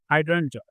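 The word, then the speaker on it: Hydrangea: अब एक fascinating fact है दोस्तों, बहुत ही मस्त है, ये है हाइड्रेन इसकी करेक्ट प्रोनाउंसिएशन होगी हाइड्रेंजा।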